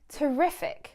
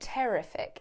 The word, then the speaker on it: terrific: Terrific. Be careful on the pronunciation of this one. It's not terrific, it's terrific.